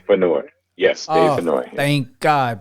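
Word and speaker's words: Fennoy: by the legendary Dave and I hope I'm pronuncia his last name is it fenoy feni yes Dave feno thank God by Dave fenoy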